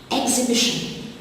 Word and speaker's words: exhibition: Exhibition, the silent letter is the H after the X.